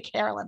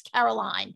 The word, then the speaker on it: Caroline: caroline i think he i keep saying carolyn but it's caroline so i'm sorry pete